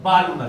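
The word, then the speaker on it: Balmer: जी बालमर series L silent नहीं यहां पे बालमर series what is inner orbit inner orbit कौन सी होगी?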